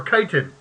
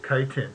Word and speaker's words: chitin: Or chitin.